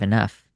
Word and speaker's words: enough: though drought enough like why is it why is it f at the end of enough?